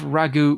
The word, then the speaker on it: Raghu: of the professor game podcast and we have Ragu with us today Ragu you're probably going to correct me for saying your name terribly Ragu Kumar but first of all are you prepared